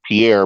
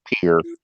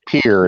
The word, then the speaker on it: Pierre: They call it Pierre because it's spelled Pierre, but you don't say it that way. If you're from South Dakota, you pronounce it Pierre.